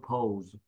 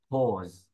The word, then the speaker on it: pause: No pause, pause. Cái ô ha, pause. Đừng có đọc là pause hay là pau ha. Đừng có pau các bạn nha. Nói chữ ô, e o đọc là ô.